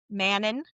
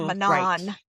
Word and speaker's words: Manon: No. Uh no. No. Um Manon. And it's Manan. Manan.